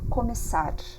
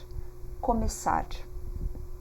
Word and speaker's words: começar: So you pronounce it as a double S, começar, começar.